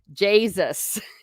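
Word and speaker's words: Jaysus: speak uh Irish yes that is how you say Jesus in um in Irish in English rather Jesus j-a-y-s-u-s a little American Court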